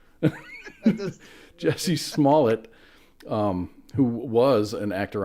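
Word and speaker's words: Jussie Smollett: Jesse I can't not my go-to pronunciation of his name is Juicy Smallier thank you Jesse Smalllet um who was an actor on Empire.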